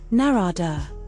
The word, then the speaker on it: Narada: Pronounced narada via a sage from the Hindu tradition.